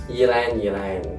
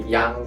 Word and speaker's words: ylang: So some people doesn't know how to pronounce this. They probably say yang or something like that. Yeah, that one is a little weird because we don't normally have Y and L together.